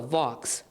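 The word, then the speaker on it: Vaux: It's supposedly pronounced like Hawks, so Vox.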